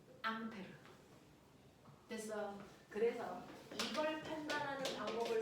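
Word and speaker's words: Ampère: 이 새끼가 플랑스 사람이라서 암페르가 원래 이름인데 이걸 미국 놈들이 뭐라고 읽게? 암페어 그 사람입니다.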